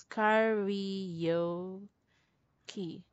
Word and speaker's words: karaoke: something like that but in english this is pronounced as karaoke parody from right yeah it pronounced uh it sounds like this curry yo key karaoke karaoke right in